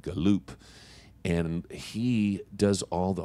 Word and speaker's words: Gallup: husband is a guy named Mark Gallup or he pronounces it galoupe and he does all